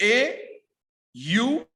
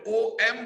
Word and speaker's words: ओम: English में समझे तो ओम कैसे बोला जाता है, तो AUM। ज्यादातर लोग जो ओम बोलते हैं तो OM बोलते हैं, मगर ओमकार का प्रॉपर प्रोनाउंसिएशन है AUM।